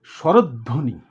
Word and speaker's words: স্বরধ্বনি: এটার উচ্চারণ কিন্তু স্বরধ্বনি না, এটা হবে স্বরধ্বনি। এখানে খেয়াল করো, দর নিচে হসন্ত আছে, এটাকে বলা হয় বদ্যাক্ষর। হ্যাঁ, আর ধো ওকার হবে, এটা সংবৃত উচ্চারণ হবে, স্বরধ্বনি বললে হবে না, স্বরধ্বনি।